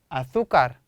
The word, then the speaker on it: azúcar: azúcar, por favor. azúcar, por favor. 쌤이 스페인 사람이니까 빠짐없이 세타 나오거나 세가 나오면 번데기 발음이 나와요.